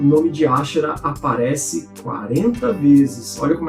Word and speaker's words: Ashera: A deusa Ashera, que em português, devido às nossas traduções, é comum a gente pronunciar Azera, ou Ishtar, como era